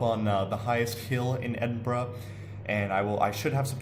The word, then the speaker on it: Edinburgh: We had our field trip to Edinburgh, or Edinburgh if you say it how it's spelled, but it's pronounced Edinburgh.